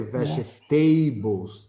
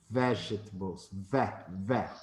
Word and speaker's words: vegetables: nutritionist please vegetables vegetables we don't say vegetables that is the bad intonation vegetables the stress syllable is fat vegetables okay fruits and